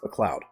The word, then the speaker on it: MacLeod: Oh, so it's still pronounced McLeod.